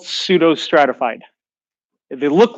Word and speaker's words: pseudo: name it is called pseudo the P is silent see those stratified columnar